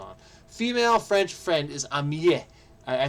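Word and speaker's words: amie: Female French friend is am I I think it's pronounced amii but it has that there that that little extra e there to make it female intentionally.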